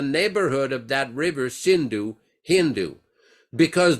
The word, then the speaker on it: Hindu: of that River shindu Hindu because they pronounce s as h as ha so this is